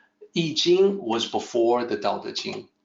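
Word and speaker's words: I Ching: a book transformation is change or changes so eating is the way it's pronounced let me also let me also make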